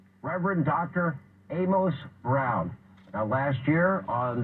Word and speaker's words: Amos: Note how I correctly pronounce the man's name, Amos, because anyone familiar with the man or who has read the Bible knows how to pronounce Amos.